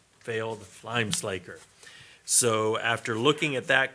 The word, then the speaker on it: slaker: To be clear, it's pronounced Slaker and not slacker.